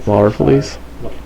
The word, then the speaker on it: Larfleeze: I can never pronounce his name right. Larfleeze.